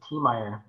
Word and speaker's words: Tiemeyer: And I have Gavin Tiemeyer, is that right? I should have practiced your name. Of course. It sounds like that phonetically, I guess it's Tiemeyer. Tiemeyer, see? Yeah, so it's like T-E.